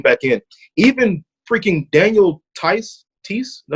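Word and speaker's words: Theis: Even freaking Daniel Tice, is that how you say his name?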